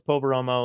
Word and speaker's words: Poveromo: i was like oh it's poveromo like you say phonetically i think he psyched